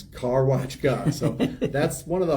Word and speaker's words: Karwaczka: Well, I'm asking for people, if you see this and you see my signs and they're like, how do you say that weird last name? It's Karwaczka.